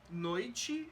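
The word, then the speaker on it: noite: i and t e noichi is spelled n-o-i-t-e but it's pronounced because unstressed the E becomes an i I don't want you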